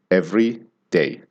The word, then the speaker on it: everyday: Every day. And there's a little bit of a pause in between. Every day, on the other hand, you stress only the first syllable and the second one sort of dives in.